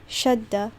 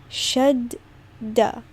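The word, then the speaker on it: شدة: was reading it, that you pronounce it like there are 2 das, right? So it's not shadda, it's shadda, so it's doubled.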